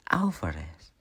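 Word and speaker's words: Álvarez: Our name is pronounced like Alvarez.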